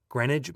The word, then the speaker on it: Greenwich: words uh here, and he's giving me the British pronunciation, which is likely the proper pronunciation, but I'm busting his chops. Anyway, here we go. The chronometer kept the exact time in Greenwich, England.